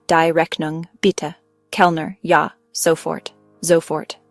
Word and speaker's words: sofort: Here the waiter uses gern pronounced gnu which means with pleasure or gladly. Kundigung dknung beta keelner ya sofort zfort right away.